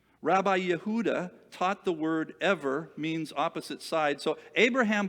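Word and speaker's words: עבר: Rabbi Yehuda taught the word ever means opposite side. So Abraham believed in one God. Ever is kind of how that word is pronounced, Hebrew, at least from the information I got from this commentary.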